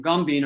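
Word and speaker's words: Gąbin: which is also pronounced So the Polish pronunciation and the Yiddish pronunciation, Gombin, are exactly the same, but the spelling is different.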